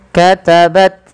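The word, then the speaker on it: كَتَبَتْ: Katabat aidihim. Ah ini dia adalah fal ta sukun. Cara membaca atta sukun sama dengan membaca huruf kaf sukun.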